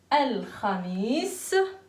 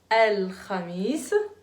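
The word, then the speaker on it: الخميس: Al-Khamis. Al-Khamis. Al-Kha. Attention pour ceux qui prononcent mal le Kha.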